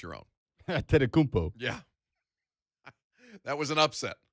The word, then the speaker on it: Antetokounmpo: You are pronouncing Giannis's last name better than you pronounce your own. Antetokounmpo.